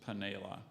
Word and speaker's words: panela: spell this word um are there any other alternate pronunci is that what you say alternate pronunciations yes there's just paneila I can you say the word one more time okay Pinella p-a-n-e-l-a correct chalupa